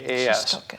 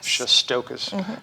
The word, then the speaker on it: Shestokas: It's Shestokas. Shestokas, just the way it sounds.